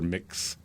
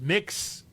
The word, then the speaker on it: Mx: Like M-I-X without the I.